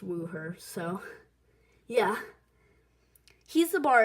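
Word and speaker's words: Wuher: mispronouncing his name but I believe it's pronounced woo her so yeah he's the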